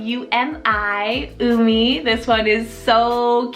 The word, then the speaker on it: Umi: For the letter U, we have Umi, spelled U-M-I, Umi.